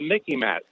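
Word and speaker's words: MICIMATT: and now they're the the mickey matt it sort of rhymes with mickey mouse but it's much more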